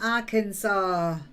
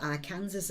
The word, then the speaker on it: Arkansas: She's back from Arkansas. I used to think that was called Arkansas or something. I used to think, oh my God, how on earth do you pronounce that? But it's Arkansas.